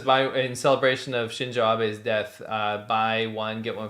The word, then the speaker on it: Shinzo Abe: So in celebration of the murder of Shinzo Abe is the correct way to say it.